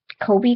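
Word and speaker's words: Chobe: like uh chab um it's about like Kobe kind of it's c h o be e um they would they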